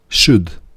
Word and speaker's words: should: όμως και παρακάτω shall should όπως και με το could το should έχει το l του άφωνο δεν προφέρεται το l will w το ίδιο